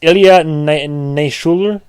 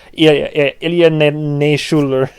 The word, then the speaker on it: Ilya Naishuller: this, I think it's Ilya Naishuller. I'm saying it with accent because the man is Russian, I believe. So Ilya Naishuller, again, severely mispronouncing his name.